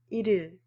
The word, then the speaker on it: 일일: First is 1일. So after applying the linking rule, you should pronounce it as 1일, 1일.